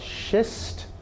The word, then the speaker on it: schist: Slate, you've got this cup called schist. I suppose that's how it's pronounced, or schist. Schist, I think.